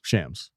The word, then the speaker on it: Shams: we just say Shams Shams what's up Shams Shams that's his name first name okay if that's